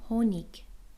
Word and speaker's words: Honig: But if a vowel sound comes after that,it's pronounced. Like the word 'Honig'. 'Honig' means Honey. As you see the letter 'h' is pronounced.